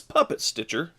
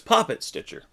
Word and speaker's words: Poppet Stitcher: have puppets pop it i say puppet it seems like it's it's puppet stitcher but it's poppet stitcher and our next one